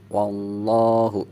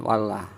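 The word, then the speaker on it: الله: ada huruf berharakat fathah maka lafadz Allahnya dibaca tebal artinya dibacanya wallahu jangan Walah ini lafadz Allah ketika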